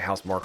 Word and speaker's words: Housemarque: Anything by Housemarque or Housemarque, however they want to pronounce it. I believe it's Marquee.